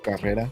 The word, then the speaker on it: Carrera: the y Facebook Carrera carera sorry gotta start pronouncing it the most you know proper way because I'm at the end of the day man I'm Hispanic I'm Mexican you know you got to pronounce your your name very proper like Lopez